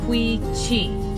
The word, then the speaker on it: Quechee: So it's pronounced Quechee.